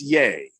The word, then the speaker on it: Ye: yi yay yay okay it's spelled ye uh and you know so it's yay yeah it's the last